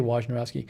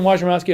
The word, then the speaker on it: Wojnarowski: Here, Adrian Wojnarowski says, I don't know if I pronounce his name right. I say Wojnarowski.